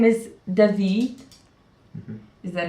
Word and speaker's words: David: His name is David. Mhm. Is that how you pronounce it?